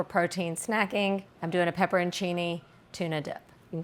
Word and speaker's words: pepperoncini: Star of the show, pepperoncini, not peppercini, okay? Y'all say stuff when I say pepperoncini. It's the way it's spelled.